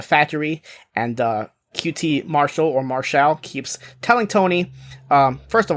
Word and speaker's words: Marshall: We go backstage with the Factory, and QT Marshall, or Marshall, keeps telling Tony, first of all, his name is pronounced Marshall, not Marshall, so everybody get that right.